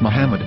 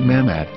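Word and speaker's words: מחמד: yehuda's Hebrew English dictionary it is correctly pronounced as Muhammad not mammad so how we're going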